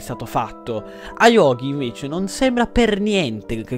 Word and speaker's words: Ayuoki: Che c'è, se voi andate a cercare semplicemente il suo nome, che si chiama Ayogi, si pronuncia Ayogi.